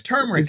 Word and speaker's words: turmeric: food he said turmeric i said spell it for me t-u-m-e-r-i-c each one of them said that and did you say well i said well wrong you're wrong not anymore it isn't now it's turmeric and they're all telling